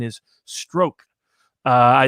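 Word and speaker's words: Strzok: say that's p apparently i'm told that the pronunciation is stroke uh i it's spelled like but i got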